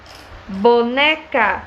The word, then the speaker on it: boneca: Quando eu digo boneca, vamos gritar? Boneca. Qual é a sílaba tônica? O né.